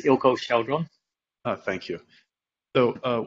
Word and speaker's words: Eelco Chaudron: before but i can't remember it yeah it's ilco sheldron ah thank you so uh we have plenty